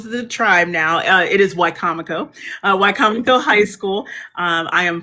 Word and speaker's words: Wicomico: Oh, I appreciate that tidbit because I keep mispronouncing it. So it's Wicomico, correct? Wicomico.